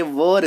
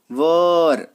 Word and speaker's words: were: चलिए अगर कहीं पे आपको वॉज या वर दिख जाए, देखिए ये वर, इसका प्रोनाउंसिएशन वेयर नहीं करते, है ना, वर, तो वॉज और वर